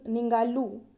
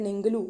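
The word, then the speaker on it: Ningaloo: Australia का जो है निंगालू रीफ। ये निंगालू रीफ याद रखना। निंगालू या निंगलू जो भी आप प्रोनाउंस करो। बट निंगालू ये रीफ है।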